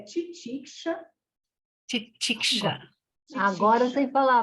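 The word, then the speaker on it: तितिक्षा: Então, o trabalho, a pronúncia é titiksha.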